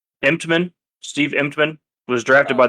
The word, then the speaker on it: Emtman: Oh, good Lord, how do you pronounce his name? Emtman.